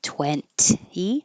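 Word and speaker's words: twenty: So just the word 20, you don't have to say the middle T, 20.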